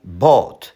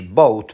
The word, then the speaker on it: bought: I bought. Nie mówisz boat, ponieważ wymowa boat to już łódka. Łódka.